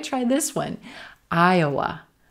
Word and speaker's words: Iowa: Iowa, Iowa. White tie, Iowa. Aya, aya. Very quick schwa in that second syllable. Aya, aya, Iowa, Iowa, Iowa.